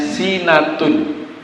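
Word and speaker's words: سِنَةٌ: Sinatun ketemu wawu, membacanya adalah sinatu, panjang 2 harokat.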